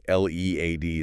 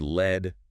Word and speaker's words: lead: L E A D is another one. Yeah. Pronounced lead rhyming with need.